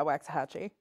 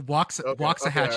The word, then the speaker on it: Waxahachie: a band that is named after this place it's spelled differently but yeah Waxahachie that is not correct oh are you making them go with the the Waxahachie the Waxahachie is the proper pronunciation locals will say it's